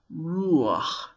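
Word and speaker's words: רוח: This is because it's not pronounced after the chet, but before it. Ruach. It's kind of a glide. Ruach. It sneaks in to help us pronounce the chet.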